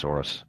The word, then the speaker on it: Soros: Do you know who Soros is? No, not really. I might know his name, but only in like Dutch pronunciation, so. It's literally just Soros.